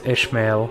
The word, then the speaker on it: Ismail: Like in English, I guess it's Ishmael because you have this. Yeah, probably. sh- But fuck it. Oh, fuck. Oh, yeah, I mean, we pronounce it Ismail.